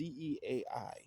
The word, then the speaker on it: Zea: Now, the name Zea is from ancient Greek, and I think that's pronounced. It's the word ancient Greek word is Zeai.